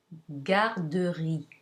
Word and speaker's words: garderie: If you have a G followed by A, O, or U, it's pronounced G, as in garderie.